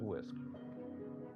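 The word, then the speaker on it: WSCC: The CDC refers to their plan as a whole school, whole community, also called WISC, W-S-C-C, and I will pronounce it WISC model throughout this presentation.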